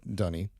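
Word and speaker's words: D'ni: people but it's um I I pronounce it the way they themselves say it in the game so dunny uh anyway at the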